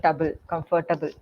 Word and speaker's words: comfortable: or two um pronunciation so when we say comfortable it's comfortable and not comfortable so the table is not pronounce there we say tble comfortable and similarly with people